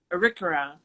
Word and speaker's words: Arikara: And of course, a Native American, Indigenous person with make sure I'm pronouncing this right, Prairie, the Arikara? Arikara.